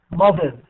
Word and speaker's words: mothers: So how we pronounce it? Z or S? S. No, Z. It should be Z. Mothers. Z. Okay, thank you very much. So this is Z. Mothers because we have R.